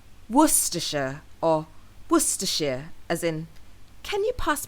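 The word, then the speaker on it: Worcestershire: pronounce this word now people often look at the spelling and try to pronounce it based on how it's spelled so they often end up saying war sester or warshire however it's actually pronounced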